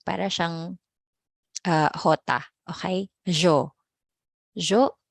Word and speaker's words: yo: Jo as in yes.